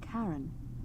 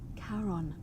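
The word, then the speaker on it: Charon: it's just as you described it only your pronunciation is a little off the name you heard wasn't karen it was c-h-a-r-o-n as in caron the ferryman of the dead we're all dead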